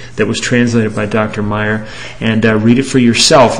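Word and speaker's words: Maier: Now, I want to share a very brief email from Dr. Paul L. Meyer. That's spelled M-A-I-E-R, and you can check him out on the web.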